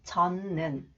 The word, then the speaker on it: 젖는: And this one, 젖는. The final representative sound 젖. 디귿 and 니은 is pronounced 니은.